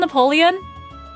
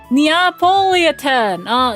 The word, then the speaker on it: Neapolitan: Is it called Napoleon? Is it Napoleon? What is it actually called? For some reason I'm... Oh! Neapolitan!